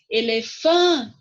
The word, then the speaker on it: elefante: Então, olha só, elefante, tá vendo? O fã é a sílaba mais forte, é a sílaba tônica.